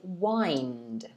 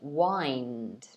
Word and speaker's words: wind: see the spelling is the same but the pronunciation is wind it's a bit different here wind so the previous one is wind this one